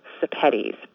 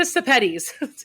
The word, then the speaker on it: Sepetys: And an easy way to remember how to pronounce my last name is that it rhymes with spaghettis. So if you think Ruta Spaghettis, you can pronounce Ruta Sepetys.